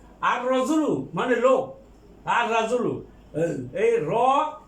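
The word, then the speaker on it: الرجل: আর রজুলু মানে লোক, আর রাজুলু এই এটা হরফে শামসিয়া, এর আগে আলিফ লাম উচ্চারিত হবে না।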